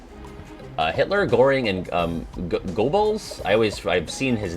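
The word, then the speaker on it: Goebbels: here botching names basically it's pronounced gobbles gotcha uh number 11.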